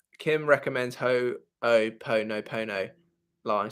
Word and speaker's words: Ho'oponopono: Random name says, as someone from Hawaii, that is how you pronounce it.